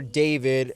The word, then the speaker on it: d4vd: So, if you aren't aware, famous singer David, uh, with the number four in his name, u, so it's spelled D4 VD.